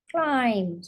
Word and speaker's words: climb: what am I saying climb got a silent B and let's do a